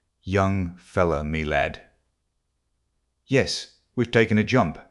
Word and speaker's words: young-fellah-me-lad: This curious phrase he pronounced as if it were all one word, young fellow, me lad.